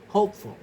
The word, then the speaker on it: hopeful: The base is hope, and the derived stress is hopeful. The stress remains on the first syllable.